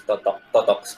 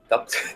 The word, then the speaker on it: totok: It kind of pronounced as totox, not like tox.